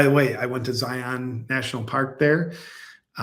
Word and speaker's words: Zion: Which, by the way, I went to Zion National Park there. Zion is how everybody tells me to pronounce it.